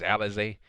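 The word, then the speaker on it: Alizé: versus miranda el alizay i think it was alize they pronounced it as alize it's spelled elise allies but they pronounced their alize so yeah so it's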